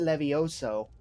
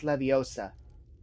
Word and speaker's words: Leviosa: thing I find weird this game pronounces it Levi Oso where in the movies it's Leviosa probably AAL correction or